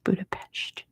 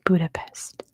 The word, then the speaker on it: Budapest: It is Budapest, as we say in America. Good job to Acid Nutria for getting it first. The answer is Budapest. It's really Budapest, but in America, we just say Budapest.